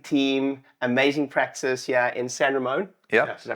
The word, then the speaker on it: San Ramon: Devin, father and son chiropractic team, amazing practice here in San Ramon. Yep. Did I pronounce that correctly?